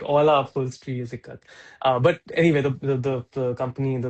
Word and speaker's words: Ekat: Am I pronouncing it correctly? Yeah, yeah, it's Ikat.